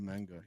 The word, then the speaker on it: Menga: We had Cologne Cathedral and then Dolmen of Menga. Pronouncing that right? Dolmen of Manga, yes, Hmm.